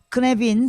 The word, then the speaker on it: Cynefin: 그래서 여러분들 한번 크네빈 CYNEFIN 크네빈 이게 이제 뭡니까 그 영어로는 이렇게 발음하면 안 되는데 이게 뭡니까 그 영국의 그 웨일즈 발음입니다.